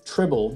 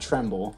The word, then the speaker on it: Tribble: bad not mccain uh tribble not tremble i think i pronounced it tremble whenever i drafted him tribble is my bad thomas